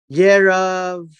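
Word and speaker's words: ירבעם: Now we have a new personality introduced in the form of Yerov-am, at least that's how it's pronounced. Yerov-am, right here.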